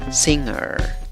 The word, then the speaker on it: singer: Pronuncias esa sílaba como sing, sing. La segunda sílaba empieza con el sonido de schwa. Acuérdate, no es A, ni E, ni O. Es A, seguido de la R. ¿Cómo pronuncias la palabra? Singer, singer.